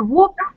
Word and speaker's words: walk: И вот я обращала ваше внимание, I paid your attention to the fact that вот это вот walk, да, гулять, читается как звук O. А work, работать, там звук R.